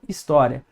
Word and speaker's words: história: Tá história. O i é mais fraco, né?